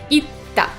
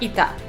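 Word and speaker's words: いった: You don't pronounce tsu at all, you just double what comes after it. Mecha or itta. Not ita, itta.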